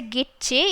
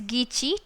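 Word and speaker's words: Gitche: and his name was gichi manido don't say git che it is gichi t is silent and many do though it is written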